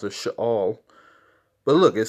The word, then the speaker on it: Sheol: Which how you really pronounce it, Sheol.